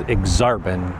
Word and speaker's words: Aksarben: Okay, so the next neighborhood we're going to talk about is Exarban. Yes, that is how it's pronounced. It's actually Nebraska spelled backwards. Right now I'm in Exarban Village, which is kind of the commercial district